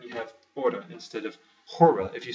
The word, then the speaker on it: hora: work in Portuguese is hora de the H is not pronounced you just take that off and you have order instead of hora if you say hora